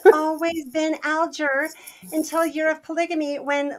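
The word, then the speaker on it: Alger: set the record straight it's always been aler it is aler a g before an e phonetically is a soft G right it's fanny aler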